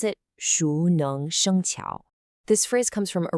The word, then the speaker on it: 熟能生巧: We pronounce it Shú Néng Shēng Qiǎo.